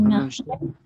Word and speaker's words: marché: Un marché. Un marché. Marché. Tiene acento la así que se pronuncia.